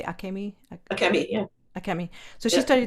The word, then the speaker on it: Akemi: And in terms of your Japanese heritage, so I'm worried I'm going to mispronounce your sister's name. How do you say Akemi? Akemi, yeah.